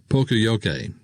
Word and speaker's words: poka-yoke: mistake or Polka avoidance yo kuru it is pronounced Pocoyo Kane there are three golden rules associated with